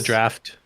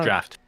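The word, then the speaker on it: draught: Not draft. No, it's I thought- pronounced draft. It's Really? pronounced draft. Yeah, that's a crazy like English pronunciation from Great Britain. Are scanning. There's Thanks. not even an F.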